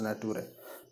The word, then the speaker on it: Naturae: Actually, it's a Scotland book, so it is pronounced as Naturae.